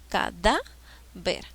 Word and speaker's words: cadáver: se tilde siguiente palabra cadáver se paró en sílabas acá a ver cuál es la sílaba que lleva la mayor fuerza de voz cada ver a qué tipo de palabra es y la mayor fuerza de voz está en la penúltima grave y qué me